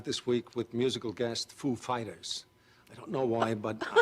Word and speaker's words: Foo Fighters: And he comes up and he's like, he asked us if the accent was on Foo or Fighters. And we know who he is. Like, of course, we know how he speaks. And we said, the accent is on Fighters, actually.